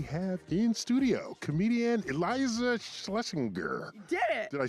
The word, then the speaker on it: Schlesinger: And we have in studio comedian Eliza Schlesinger.